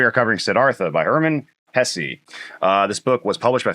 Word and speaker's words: Hesse: Today we are covering Siddhartha by Hermann Hesse.